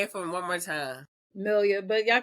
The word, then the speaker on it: Melia: hold up say it for one more time millia but y'all call me okay yeah